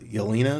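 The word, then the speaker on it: Yelena: with uh uh uh I think it's a little uh Yelina is how you say it uh Bulova it's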